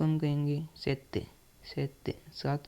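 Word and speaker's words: sette: छ ठीक है गा सात को हम कहेंगे सेत्य सेत सात को हम कहेंगे सेत्य से का मतलब होगा सात इसको हम हिंदी में तो सात कहते हैं लेकिन इसको इटालियन में सेत्य कहते हैं सेत्य ठीक है आठ को हम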